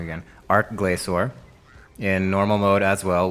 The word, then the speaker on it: Glacor: As far as test subjects, I only have 2 bosses that I test against, the Twin Furies and Glacor. I pronounced it wrong again. Glacor.